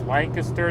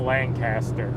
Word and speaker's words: Lancaster: correctly by the way it's lancaster not lancaster if you say lancaster all the locals know you're not from around there yeah the real the